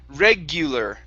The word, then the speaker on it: regular: regular okay so uh you're putting the stress right here you're saying regular instead of regular it's regular the stress is at the very beginning regular regular good good